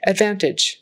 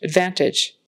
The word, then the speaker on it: advantage: and that final consonant is like a j sound that g s like a j Advantage Advantage uh I started with